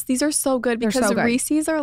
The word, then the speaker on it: Reese's: is a a debate I think it's Reese's but I say I say rees's I say hold on this is the first thing in the world that I've said right I was like I'm pronouncing that wrong too okay a chocolate butter cup whatever you want to call it okay it's Reese's though right I think you're